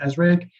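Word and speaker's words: ASRG: group which is uh what we call asrig the pronunciation near azraeg and then we will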